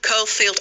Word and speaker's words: Caulfield: It's because Sue told me to pronounce her name as if it starts with cauliflower. Sue Caulfield, cauliflower.